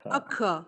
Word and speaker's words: occur: Occur. So again, please. Occur. It's not occur. Occur. It's a schwa sound.